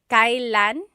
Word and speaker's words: kailan: Kailan nangyari yun? Nangyari means happened, and then yun means that. Kailan nangyari yun? And then just a pronunciation tip, it's pronounced kailan, kailan, but you will often hear it pronounced kailan, kailan.